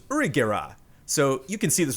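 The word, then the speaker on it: ユリ・ゲラー: is named yongera and in japanese uri geller is pronounced urigera so you can see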